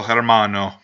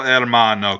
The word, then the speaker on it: hermano: perfect cell versus el hermano or el hermano cuz in Spanish you don't pronounce the H most of the time it's a thing and